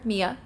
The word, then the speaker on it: Mia: So the second map is actually specifically about the city of Godsgrave, which is where our main character, Mia, or Maya, depending on how you want to pronounce that, is from.